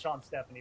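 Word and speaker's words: Sean Stefani: I think it's actually pronounced Sean Stephanie, by the way, but who cares?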